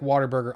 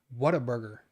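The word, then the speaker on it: Whataburger: talking I'm just saying you say it like waterburger I don't say Water Burger I don't say Water Burger what a burger what a burger what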